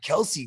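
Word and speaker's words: Kelce: So when did Kelsey go? Oh, Kelsey was the first overall pick in mine. Overall, yeah. Oh, apparently today Travis Kelsey came out and said it's pronounced Kels.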